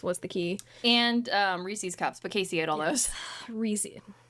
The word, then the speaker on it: Reese's: And um Reese's cups, but Casey ate all those. Reese, it's actually Reese's cup. Reese owns the cups.